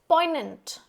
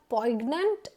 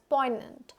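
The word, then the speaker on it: poignant: इट्स an adjective next पोइनेंट इट्स नॉट पोइग्नेंट it's pronounced as पोइनेंट एंड इट इज़ एन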